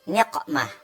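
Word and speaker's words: نقمة: Kemudian saya membacanya dengan niqmah. Ya, niqmah pakai qaf ya.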